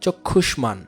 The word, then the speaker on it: চক্ষুষ্মান: চক্ষুষ্মান, এখানে মফলা দুবার উচ্চারণ হচ্ছে না, পাশাপাশি এখানে আনুনাসিকও হচ্ছে না।